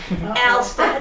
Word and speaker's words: Alstead: And a woman named Margaret Perry from Alstead, never call it Alstead. No. There's Alstead. No all in Alstead. Remember that.